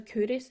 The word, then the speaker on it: Culross: So it's looks like it's pronounced KO, but it's actually Curus.